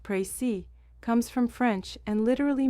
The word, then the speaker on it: précis: The word prey pronounced prey comes from French and literally means precision or exactness.